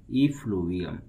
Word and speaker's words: effluvium: The word of today is effluvium. सबसे पहले इसका pronunciation learn करते हैं. E को पढ़ेंगे E, flu, F-F-L-U को flu, vium, V-I-U-M को vium.